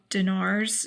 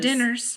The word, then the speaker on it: dinar: and more uh monies it was yugoslav dinars is what it looks like sure not dinners no or not diners that's not how it's spelled it's absolutely correct yeah